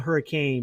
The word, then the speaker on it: Hurricane: It's spelled hurricane, but they call it Hurricane, Utah.